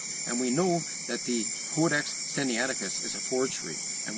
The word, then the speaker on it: Codex: Codex is pronounced with a long O, as in code.